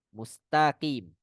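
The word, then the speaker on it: مستقيم: Kemudian tak ini sama kasusnya dengan kanastain. Mustaqim. Itu sering terdengar. Mustaqim. Padahal harusnya tak. Bukan to. Ya. Mustaqim.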